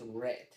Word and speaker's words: read: El pasado de read es red.